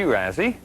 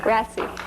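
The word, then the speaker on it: Rasy: Well, today our first guest is Razi. That's how you you pronounce your last name. Rasi.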